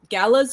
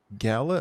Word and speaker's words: gala: smith is it pronounced gala am i mispronouncing it because i've always thought g-a-l-a if you're looking at proper english uh two uh vowels separated by a consonant makes the first vowel long gala i always call